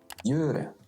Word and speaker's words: gjøre: All 4 of them give the same soft sound y. Gjøre.